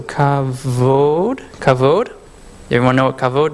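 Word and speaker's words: כבוד: We have a kaf with a dot, so it's a K sound. Bet with no V is V, so kavod.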